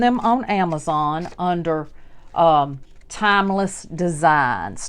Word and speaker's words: Thymeless: on Amazon under um timeless designs Timeless and time is spelled just like the herb time t h y m e and that's how you